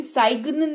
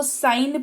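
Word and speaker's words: sign: की बात करते हैं अगर किसी शब्द में जी के बाद एन ए जाए तो जी का उच्चारण नहीं करते सिंपल है जी के बाद एन लिखा हो गुरुजी यानी की जी उच्चारण नहीं होगा जैसे की इसको सी एम सिना नहीं इसको साइन पढ़ेंगे जिसका मतलब होता है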